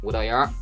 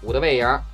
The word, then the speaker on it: 五道营: 北京人说话吞字儿，五道卫营，五道营，五道营，五道卫营。